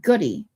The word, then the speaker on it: Gaudet: Gaudet here is pronounced goody. Not many French, so not good day, obviously.